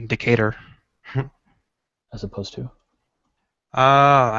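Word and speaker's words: Decatur: language around even though everything is pronounced with the an American accent I like a decator as opposed to uh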